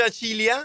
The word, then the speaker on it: Acilia: puoi anche farlo vedere Acilia si legge Acilia Sì Acilia dopo incidente